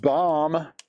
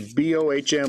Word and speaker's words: Bohm: Alec Baum. If your last name was B-O-H-M, would you pronounce it Baum or Bohm? I pronounce it Baum.